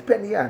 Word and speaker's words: Peninnah: And the name of the other was Peninnah. Peninnah. No, Peninnah. And Peninnah. Listen, Peninnah. Peninnah. It's Peninnah. That's how we pronounce Peninnah.